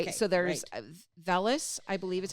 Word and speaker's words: vellus: Okay, So there's vellus, I believe is how you pronounce it.